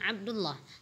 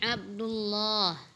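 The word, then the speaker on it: عبد الله: Hai Abdulloh omoh Mbak panjangkan lafal Allah nya bukan Abdulloh tapinya Abdulloh hai anabas Hai anabas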